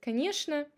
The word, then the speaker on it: конечно: And the last combination is chn, which is often pronounced as shn. For example, конечно. Sometimes people can say конечно, but it has an ironical meaning in this. But конечно is the correct way to pronounce this word.